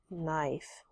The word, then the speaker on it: knife: Number 4, knife with a K, with a silent K.